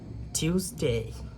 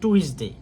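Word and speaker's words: Tuesday: হবে না Monday Monday টিউসডে টিউসডে টিউসডে আগে বলতাম টুইসডে আমি যেটা বলতাম আর কি আপনারা কি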